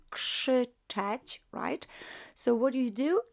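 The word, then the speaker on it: krzyczeć: shout should touch so k r z is pronounced as more like k s that should touch so what do you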